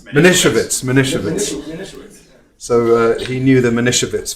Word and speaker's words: Manischewitz: But Alan used to enjoy telling the story that they pronounced it Manischewitz. Manischewitz.